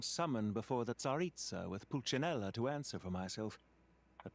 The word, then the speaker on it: Pulcinella: I had the rare honor of being summoned before the Tsaritsa with Pulcinella to answer for myself.